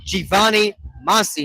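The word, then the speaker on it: Giovanni Masi: I mispronounced name there. It is actually Giovani Masi, not Giovani. It's Giovani Masi.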